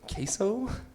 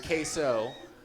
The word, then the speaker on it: queso: So, would you like some queso?